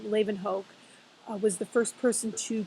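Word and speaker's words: Leeuwenhoek: that I like to throw in um Antonin Leen Hoke that's how you pronounce that crazy long last name Leen Hoke was the first person to create a microscope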